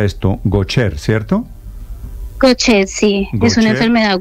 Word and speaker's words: Gaucher: Las enfermedades de Juan Manuel eran, ¿cómo se pronuncia esto? Gaucher, ¿cierto? Gaucher, sí, Gaucher, es una enfermedad huérfana.